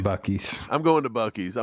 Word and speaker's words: Buc-ee's: uh, How's that pronounced? Buc-ee's? Boosies? Butchies? Boochies? it's definitely Buc-ee's.